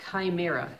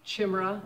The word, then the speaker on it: chimera: Something called a chimera. It begins with a CH, and I thought it would be chimera. I've been saying it wrong all these years. It's a chimera.